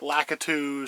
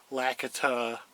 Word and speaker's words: Lakitu: Some people say it Lakitu, some people say it Lakita, whatever. I say it Lakitu, that's how I like it.